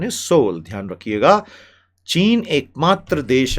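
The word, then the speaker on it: Seoul: The pronunciation is सोल।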